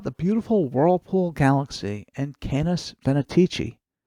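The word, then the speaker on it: Canes Venatici: beautiful Whirlpool Galaxy and canis venetici sometimes you'll hear it called canis fanaticy although I like the pronunciation Kenneth venetici better catalog this Messier 51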